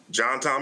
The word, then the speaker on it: JohnTom: John Tom is my grandpa. It's his first and middle name, and it's what his family affectionately called him. They were Southern from Mississippi, so they pronounced it JohnTom.